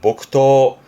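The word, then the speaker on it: 木刀: 뭐 훈련이라든가 쓰게 되는이 나무칼 요거를 목도 발음은 복토 음론 토갑니다.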